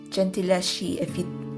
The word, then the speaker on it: Gentileschi: Oh God, Italian pronunciation, Gentileschi, if you don't like to read about sexual assault.